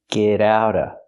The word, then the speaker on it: get out of: We hear the t and get and the t and out pronounced as fast e's. Get out of. Get out of the house. And you don't have to pronounce the vv sound in of because it's before a consonant.